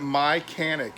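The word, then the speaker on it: Mychanic: in your car or whatever go look at my canik it's spelled m-y-c-h-a-n-i-c they're american company based out i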